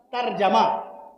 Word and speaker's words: ترجمہ: ترجمہ نہ کہا کیجیے، ترجمہ، سب پہ زبر، ترجمہ، کیا؟ ترجمہ، ترجمہ، ترجمہ نہیں، ترجمہ۔ عصر کی نماز نہیں،